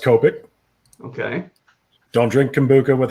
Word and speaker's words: Copic: It's pronounced Copic.